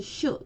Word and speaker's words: 主: 뜻으로 읽을 때는 느시로 읽어주고 주인이라는 뜻이고 한국어로 주로 읽어줄 때 일본어로는 슈, 짧은 슈로 발음을 해줍니다.